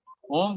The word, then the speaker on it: ओम: 3 बार लंबी गहरी सांस लेकर के ओम का उच्चारण करेंगे। 90% ओ बोलेंगे, 10% माँ का उच्चारण करेंगे मुंह बंद करके।